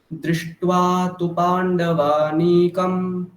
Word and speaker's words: दृष्ट्वा तु: ঠিক আছে, যদি গ্যাপ দিতে যাই তাহলে তয় দীর্ঘ উকার উচ্চারণ হয়ে যাবে, সেটা ভুল। দৃষ্ট্বা তু পা এটা বলতে হবে, দৃষ্ট্বা তু পাণ্ডবা এটা বললে ভুল।